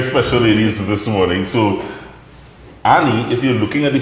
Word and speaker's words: Any: Her name is A-N-Y. Yes. Why? Yes. Why is it spelled like that? Well, it's Spanish. It's Spanish. It's pronounced so Annie.